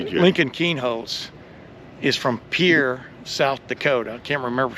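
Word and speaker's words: Pierre: Still always forget the name of his actual high school is P I E R R E. That's it. But it's pronounced Pier.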